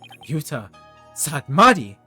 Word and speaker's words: Nayuta Sadmadi: Nayuta Sadmadi? That's right. There's no pun here? Okay. I actually pronounced it right?